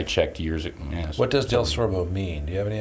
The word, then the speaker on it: DelSorbo: oh but and it's if you just read it it's pronounced exactly like it's spelled but but it's difficult we're the only one in tennessee the only del sorbo that is i checked